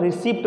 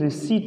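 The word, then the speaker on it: receipt: रिसीप्ट हम इसको क्या बोलते हैं बेटा, रिसीप्ट बोलते हैं, पर ध्यान रखना प्रिय स्टूडेंट, इसको हम रिसीप्ट नहीं रिसीट बोलते हैं।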